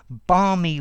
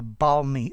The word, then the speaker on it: balmy: is exactly the same balmy weather talks about weather that's uh warm and pleasant a balmy a balmy sunny summer evening but that's with an l yeah although spoken they're exactly the same okay so a balmy